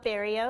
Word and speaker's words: Barrilleaux: so as I mentioned my name is Barrio is how you pronounce that long last name and I'm a performance